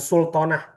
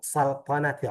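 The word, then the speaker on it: سلطنة: Bukan sultanah ya. Bahasa Inggrisnya mungkin sultanah, tapi bahasa Arab resminya ee ana min saltanati uman.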